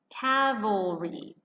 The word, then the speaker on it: cavalry: died at calvary now here's the second one cavalry cavalry so your l is in the second syllable and this is not